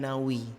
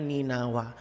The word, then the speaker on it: Ninawa: ada perkampungan namanya ninawa ada juga mengatakan cara bacanya nih Nawi tapi yang ke-6 jumpai literatur yang lebih tepat bacanya ninawa nanti karena Coba telusuri